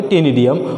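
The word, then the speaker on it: ctenidium: सी silent है यहाँ पे, टेनिडियम, और what is called as an gills.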